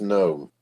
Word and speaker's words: gnome: the size of from gnomes for halflings the dwarfs right up to the Goliath hold on a sec just a good no no no it's pronounced no the G is silent yes I know I